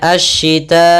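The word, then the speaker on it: الشتاء: Maka kita membacanya asyita'i, panjang dulu 4 harakat baru i.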